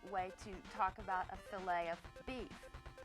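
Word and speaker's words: filet: If you're speaking about meat cookery, the French word f i l e t. It's pronounced filt. And that's the proper way to talk about a filt of beef.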